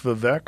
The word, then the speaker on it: Vivek: opposing do you like vivec I know you had vivec on your podcast that's I mean I heard in this rap He says it rhymes with cake okay um well as